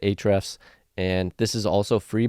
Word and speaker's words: Ahrefs: this one as well this one is ahrefs or a-refs I'm not really sure how people pronounce it but I pronounce it ahrefs and this is also